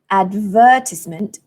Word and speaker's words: advertisement: that you stress and this word advertisement four syllables advertisement the stress falls on the second syllable okay so those are